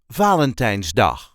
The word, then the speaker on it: Valentijnsdag: Valentine's D Valentine's D there is a light emphasis on the first syllable Valentine's D VA L's D Valentine's D the nland started celebrating Valentine's do in the 1990s I